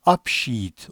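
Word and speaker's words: Abschied: vedalaşma kalıplarıyla devam edelim vedalaşma Almancada upset olarak okunuyor i ve e har leri yan yana gelince uzun bir i şeklinde okunuyordu apsit upsed vedalaşma en meşhur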